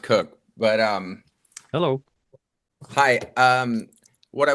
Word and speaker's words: Koch: Koch. It's actually pronounced Cook, but hello.